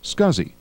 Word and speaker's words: SCSI: available for the amiga the SCSI which stands for small computer system interface is pronounced scuzzy and the st 506